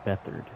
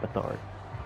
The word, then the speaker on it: Beathard: quarterback's name pronunciation correct I believe it is CJ beathard not bethard I'm just call him